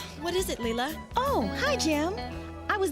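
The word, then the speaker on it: Lela: her name is um leela we've finally taken in a girl younger than her lilos not layla as i had originally pronounced it and this is as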